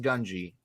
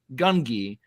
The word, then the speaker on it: Gungi: to let everyone know his name is pronounced gunji not gungi I see so many